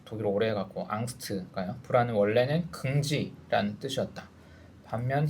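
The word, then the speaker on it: Angst: 독일어 발음이 독일어 오래 해갖고 앙스트가요.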